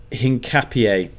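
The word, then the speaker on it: Hincapié: Um, last couple uh Pierro uh Hinapier is how it's pronounced I think to Arsenal.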